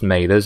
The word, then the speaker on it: Mathers: writer occasionally and yes it is pronounced mailers and not matters some of you do get that wrong but